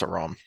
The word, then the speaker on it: Aram: I always said Aram, I but always did too, but I'm pretty sure that I looked up the pronunciation when we started doing this, and it's a Rom.